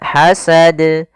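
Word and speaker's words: حسد: Kemudian hasad, hasad, hasad. Nah, jangan ada tambahan hamzah atau tidak memantul. Misal hasad, itu salah.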